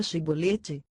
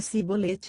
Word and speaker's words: Shibolete: Se o fugitivo dizia que não, os guardas exigiam que ele pronunciasse a palavra Shibolete. Se ele não fosse capaz de dizer bem a palavra, e pronunciasse Sibolete em vez de Shibolete, ficava claro que estava mentindo.